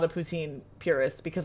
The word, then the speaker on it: poutine: You can tell that I'm not a poutine purist because I pronounce it poutine and not poutin. If I was pronouncing it properly, I would say poutine.